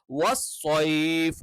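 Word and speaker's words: وَالصَّيْفِ: അപ്പൊ ഇവിടെയും വസ്സൈഫ്, സൈഫ് അല്ല, വസ്സൈഫ് വസ്സൈഫ്.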